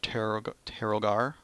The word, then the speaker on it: Terogor: So we're in the lands of Terogor, sorry. That's how it's pronounced.